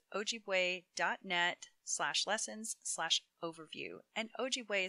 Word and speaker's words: Ojibwe: lessons slash overview and ogway is spelled o j i b w e so you have a